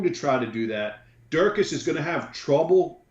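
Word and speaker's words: Dricus: has subs listen I'm just gonna say his name's dracus though it's d-r-i-c so excuse me excuse me dracus I apologize duplex C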